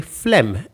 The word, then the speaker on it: phlegm: pronunciation of phlegm despite the perplexing spelling the pronunciation of this word is actually quite straightforward simply say phlegm and you've got it it's easy to see